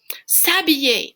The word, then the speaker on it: s'habiller: S'habiller. Oh, look what happened here. That se, S-E, became S apostrophe because H is a vowel sound. It is silent, essentially.